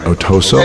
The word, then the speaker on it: Otoso: That is the correct pronunciation, right? Otoso? It is.